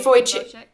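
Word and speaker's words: Vujicic: Nick what's Oh Nick Voych Voych.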